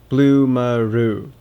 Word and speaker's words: Bloomaroo: First off, its name rolls off your tongue. Bloomaroo. The first and last syllables rhyme.